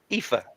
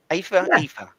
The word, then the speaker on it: Aoife: I think if my memory serves me right, it's Aoife. Aoife.